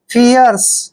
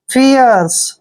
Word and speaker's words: fierce: एफ का उच्चारण फै करते हैं, आई को ई की मात्रा पढ़ते हैं और यहाँ पर देखिए ई का उच्चारण हम ये करेंगे, आर को रे पढ़ेंगे और CE का उच्चारण शे करते हैं। आर जो है यहाँ रे के रूप में लगाएंगे।